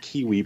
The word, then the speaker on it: KWE: And that's really the mission of her company, KWE Publishing. She likes to pronounce it Kiwi Publishing.